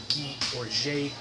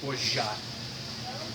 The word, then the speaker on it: Orgeat: So yeah, today we're talking about Orgeat, sometimes pronounced Orgeat, but French proper pronunciation, Orgeat.